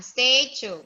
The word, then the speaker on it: statue: Look. American statue. Oh, statue, not statue. Statue. Statue. This one, statue.